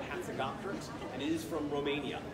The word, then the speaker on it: Hatzegopteryx: It's got that silent P in there. E-R-Y-X. E-R-Y-X. Yeah, that's right. Hatzegopteryx.